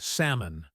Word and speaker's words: salmon: The same thing happens with salmon. That L just vanishes, making it salmon, not salmon like most people think.